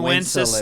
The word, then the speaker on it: Wenceslas: And Good King Wenceslas. Never heard of that. Wenceslas. Isn't that it? Isn't Wenceslas? Wenceslas. That's why I said it rhymes with applesauce.